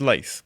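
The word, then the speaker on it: Lathe: Le Guin, and I recommend reading The Laugh of Heaven if you haven't. And I know John's already going to complain at me how I mispronounced that. Apparently it's Lath, but I'm not posh enough.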